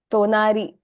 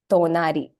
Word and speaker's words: tonari: It's not THA, but the sound when you pronounce it is actually the softer THA sound. Okay, so it's ta. So words like tonari, for instance, right? Tonari and tomodachi. So these two words, it's tonari, tomodachi.